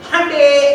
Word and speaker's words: Hyundai: it writes and says hyundai as in Sunday. So how you call Sunday? It's called honey. How do you know it's Sunday? Very good. Excellent. So, Hyundai as in Sunday is the correct pronunciation.